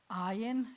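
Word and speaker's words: עין: So this one starts with a silent letter too. We've talked about this because this, ayin, is the name of the letter, and it's the name of your eye.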